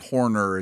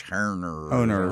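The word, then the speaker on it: Haener: It's not Horner, it's Herner.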